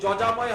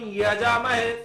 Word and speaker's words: যজামহে: আচ্ছা মহারাজ তম্বকম যজাময় যেটা আছে ওইটা তাতে উচ্চারণ ভুল আছে, যজাময় হয় না। ওম ত্র্যম্বকম যজামহে সুগন্ধিং পুষ্টিবর্ধনম উর্বারুকমিব বন্ধনং মৃত্যুর্মুক্ষীয়মামৃতাৎ।